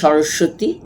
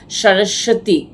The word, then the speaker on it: সরস্বতী: বয় শূন্য রয় বয় এই ব টা সাইলেন্ট বই ব টা আমরা সরস্বতী কিন্তু হিন্দিতে বা সংস্কৃতে